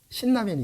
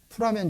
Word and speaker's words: 신라면: 그래서 우리나라 라면에 신라면이 있죠. 어떤 분들은 풀라면이라고 읽어요, 이거를. 풀라면 주세요. 그러면 신라면 줍니다.